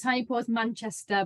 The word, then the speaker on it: Tiny Paws MCR: Yeah, so it's Tiny Paws Manchester, but that's the abbreviation that we use around Manchester.